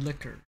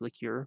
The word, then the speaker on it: liqueur: Irish Cream Liquor. It's actually pronounced liqueur, but okay.